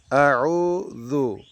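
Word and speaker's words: أَعُوذُ: আউযু, উ চাপা দিয়ে বলতে হবে এবং ১ সেকেন্ড টানতে হবে। আউযু, আউযু, যু পাতলা করে বলতে হবে।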